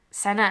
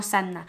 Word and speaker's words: Saná: este el Corán de saná saná no sanna el Corán de saná